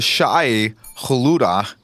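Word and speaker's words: Shai-Hulud: The Shai Haluda. Adding a couple. Shai there Halud it is fine. Haluda. I couldn't pronounce it at Yeah.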